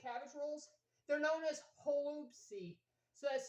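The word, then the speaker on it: holubtsi: But anyho, um, also fun fact, um, in Ukraine when you make cabbage rolls, they're known as hoopsy. So that's spelled H O L U B T S I.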